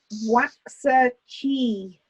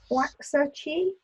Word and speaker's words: Waxahachie: is an American state where the town of Waxahachie, is that how you say it? Waxahachie? Waxahachie? It's a very long word that begins with W and it's got a H in the middle. Waxahachie.